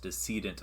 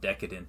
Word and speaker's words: decedent: So first things first, it is pronounced Decedent Affairs. It is not Decadent Affairs. I've heard a lot of people pronounce it that way. It is Decedent. Decadent, I think, has an A in it, and means something completely different.